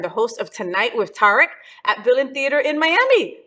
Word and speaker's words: Tarek: you heard some people there's Tariq it's very common too this is kind of sexy to read okay the pronunciation Arabic and I went to an American School my whole life so I was I've always been Derek okay I like Derek